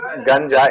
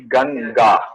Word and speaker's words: Ganga: Uh, it is like not ganja, it will be ganga. Ga.